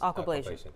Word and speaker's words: aquablation: So we're interested in learning more about, is it pronounced aquablation? Yes, aquablation.